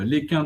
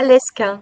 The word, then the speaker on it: Lesquin: Ah là tu prononces bien, tu dis pas Lesquin. Bravo. C'est Lesquin exactement.